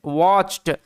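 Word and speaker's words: watched: তার আগে টি আছে ওই কারণে টি সাইলেন্ট টি এর উচ্চারণটা হবে না আর ডব্লিউ এ একত্রে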